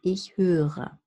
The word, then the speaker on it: höre: However, so this R here is pronounced if you say the full word, because you have a two-syllabic word now, and the R is considered the beginning of the second syllable. And then you have this soft R that I discuss in my R videos.